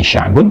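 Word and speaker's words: شعب: Nah, di teorinya sederhananya begini, kalau kita kemudian membaca ini sya'bun, kemudian kita akan berhentikan, biasanya ditarik ke sini, ya, ke sebelumnya, dan diganti dengan harakat yang mudah untuk diucapkan. Misal sya'b, gitu kan? Jadi seperti mengucapkan fathah, sya'b.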